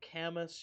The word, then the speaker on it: Camus: uh people are saying that's pronounced Camus you did not pronounce Camas properly Kamas campus okay he's French so it should be pronounced like no emphasis on the consonant yes apologies oh I